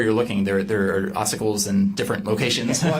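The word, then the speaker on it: ossicles: So oicles. Okay. What is that? So it depends where you're looking. There there are oicles in different locations.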